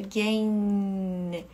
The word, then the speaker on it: gain: Então, por exemplo, essa aqui seria gain. E a língua vai lá no céu da boca.